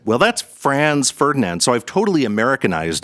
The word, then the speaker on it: Franz: Americans always say Fron and like what's going on here? Oh, so that's Americans trying to sound British.